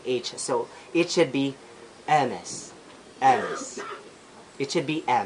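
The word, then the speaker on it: Hermès: young cunny lung age so it should be a mess yes it should be a mess so that's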